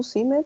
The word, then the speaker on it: seemed: No seemed, but seemed. Ah, seemed. Yes. Okay. Es cierto, agregamos la ed, pero lo vamos a pronunciar como d al final.